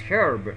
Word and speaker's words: herb: a common herb, or Americans pronounce a common herb. Like, you know, you pronounce aue, you do not pronounce haue. And Americans, they are just very much surprised why you pronounce aue and why you pronounce herb. So that is why they pronounce herb instead of herb.